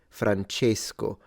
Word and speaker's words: Francesco: that usually natives do so he's closing the E Francesco not all people pronounce